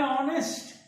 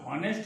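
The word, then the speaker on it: honest: गलत हो जाएगा, क्योंकि यहाँ पर एच का उच्चारण साइलेंट है, यहाँ ओ का उच्चारण शुरू होता है, इसलिए इसको हम कहते हैं ऑनेस्ट। यहाँ पर हॉनेस्ट नहीं पढ़ते, ऑनेस्ट पढ़ते हैं।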